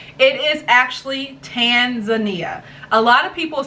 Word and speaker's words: Tanzania: zanzibar creating eeya and you put all three of those together you have tan zan ia tanzania so for those of you out there that have been saying tanzania tanzania whatever pronunciation you have you now know it's actually tanzania so let's say it